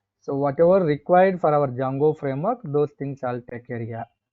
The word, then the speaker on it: Django: And another one is the Django framework, where D is silent.